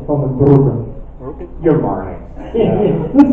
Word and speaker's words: Van den Broeke: But it's pronounced as Van den Broeke. With a running R, Van den Broeke.